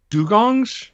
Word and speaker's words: dugong: marine researchers are using drones to save uh dugongs d-u-g-o-n-g-s is that the pronunciation that's right yep dugong yeah so this